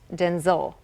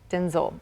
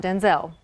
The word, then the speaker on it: Denzel: Even Denzel Washington surprised fans, revealing that his name is actually pronounced Denzel. Denzel. Denzel, not Denzel.